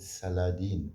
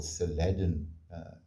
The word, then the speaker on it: Saladin: And he was called Saladin or Saladin. I don't know exactly how they pronounced it, but the spelling was different.